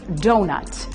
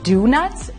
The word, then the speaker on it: donut: Now, it's funny that you don't pronounce it do-nut and that it's pronounced donut, although maybe they should